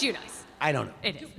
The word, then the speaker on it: Giudice: Just tell me the pronouncer. I'm like, it's Giudice. You know, Billy Bush email. They're like, how do I say? And then I'm like, it's just Giudice. You know, I don't know. It's Giudice.